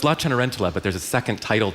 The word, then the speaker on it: Cenerentola: So can you pronounce it, please? Cenerentola.